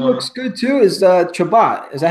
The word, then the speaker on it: Chabot: Who looks good too is Chabot.